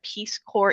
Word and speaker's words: Peace Corps: So, because I don't want to assume that folks know what PeaceCore is and it's Peacecore, the S is silent.